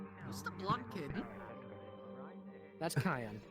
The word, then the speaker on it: Kaia: That's Kaia. Yes, that's Kayan. Kayan. Yes, also the Like the reason why... pepper? That's how you would pronounce it, yes, but not spelled the same way.